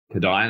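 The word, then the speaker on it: Kodály: those listening if you're not familiar with kada it's spelled k o d a l y kada That's the guy's name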